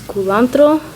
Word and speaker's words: culantro: This is culantro, so it's spelled like cilantro, but instead of CI it's CU, and it has these